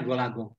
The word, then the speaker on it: Gol A Gong: Ditulisnya Golagong. Dibacanya Golagong. Apa itu? Kata bapak, gol. Kata emak, gong.